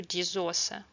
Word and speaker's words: die Soße: The German language borrowed this word and is gender directly from French along with haute cuisine changes the pronunciation to diz ausa.